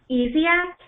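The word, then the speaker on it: Essiac: And then I guess this is Easiac.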